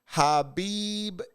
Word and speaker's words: habibi: It's pronounced habibi.